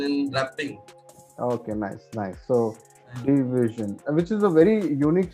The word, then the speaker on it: DVZN: DVZN is actually pronounced as division, short, not division. Divide. I mean, divided. It's like that. So, yeah. It's like a division. But in division, it's like if you split the D and the vision, it's like a division.